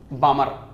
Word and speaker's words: Balmer: BALMER, L silent होता है, बाल्मर नहीं, बामर। ठीक है, बाल्मर भी बोल दो, नाम में कोई खास फर्क नहीं पड़ता, चलेगा।